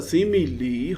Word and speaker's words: simile: Select the choice that explain the meaning of the SIMILE. This is not smile. This is not smile. This is simile.